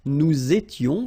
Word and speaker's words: nous étions: Tu étais, il était, elle était, nous étions, little liaison here to make it more beautiful, nous étions, okay, final S not pronounced, remember, vous étiez, same